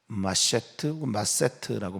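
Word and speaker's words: מַשְׂאֵת: 이 큰 상이라고 하는 마세트라고 발음하는 이 상은요, 상품, 선물 이런 의미가 아니라 음식이에요.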